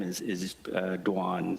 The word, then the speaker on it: Doan: name is is uh dwan so Vietnamese because of French uh the French influence we pronounce it dwan but I'm used to being called Dome as well similar to